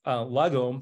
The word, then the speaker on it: lagom: author of The International best-selling um and it's pronounced lagom the Swedish Secret Of Living Well um and